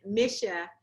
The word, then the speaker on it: Maschia: And Maschia, am I saying it right?